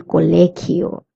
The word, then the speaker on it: colegio: El colegio, the sound is a K of GI. That's why we say el colegio.